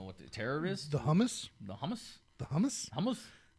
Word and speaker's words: Hamas: the terror is the hummus the hummus hummus hummus how do you say it like the dip Hamas like the dip I don't know oh you're saying Hamas like the terrorist organization yeah that's what I'm